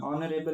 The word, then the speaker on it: honorable: An honest man, an honorable leader, an hour. So here H is silent and O, this sound is being pronounced.